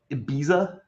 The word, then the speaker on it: Ibiza: You said Ibiza, like Ibiza? Correct. Okay. Ibiza. I think that's actually how they say it there.